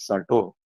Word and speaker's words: Sartre: So in this case, this philosopher, Sartre, I'm pronouncing it as Sarto. It's a proper noun, so pronunciation is excused.